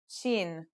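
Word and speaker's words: شين: letter we'll learn is chin this one is pronounced just like the English in the word shovel this one is very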